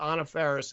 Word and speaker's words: Anna Faris: her because he really is in love with Anna Faris.